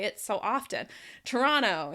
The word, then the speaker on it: Toronto: Toronto instead of Toronto. We pronounce these things faster because they're words we use a lot.